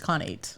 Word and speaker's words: Khanate: Conate. According to the Google machines, it's Connate. When you turn it on, like pronounce this for me and say it. Connate.